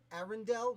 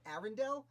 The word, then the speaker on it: Arundel: I also want to note it seems to be Arundel, not Arendelle, as in the main city in the movie Frozen. It is spelled differently.